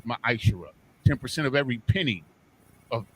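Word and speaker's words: מעשר: You can find this in Numbers 18 and 21, and Malachi chapter 3, verses 8 through 10, means 10th in the Hebrew, and it's pronounced ma'ashera.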